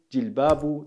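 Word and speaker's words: جلباب: Ausgesprochen Jilbabu, das Singular also davon.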